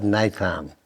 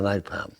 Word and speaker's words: napalm: And I used to love napalm. Napalm it's spelled exactly the same as the oil that they used in Vietnam.